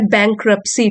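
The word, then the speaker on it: bankruptcy: फिर है बैंक्रप्सी, T silent है, दिवालियापन, फाइनेंशियल फेलियर।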